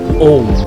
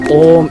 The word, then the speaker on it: om: it sounds cool now here is the common mistake when people people chant o om in fact is formed by three syllables or three letters which